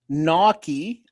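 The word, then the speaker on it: gnocchi: Naki, pronounced Naki, is a a varied uh family of Italian pasta, like dumplings made of small rolls of dough.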